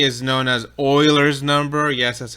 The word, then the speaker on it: Euler: And we do a quick search on E, and E is known as Euler's number. Yes, that's how you pronounce it.